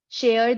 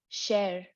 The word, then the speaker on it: share: it as share like share this with me I think that is something that a lot of people say but actually it's share right rhymes with chair share share not share